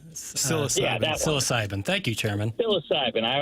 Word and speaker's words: psilocybin: I think Chairman Kurt knows how to pronounce it. It's the mushrooms psilocybin. Psilocybin.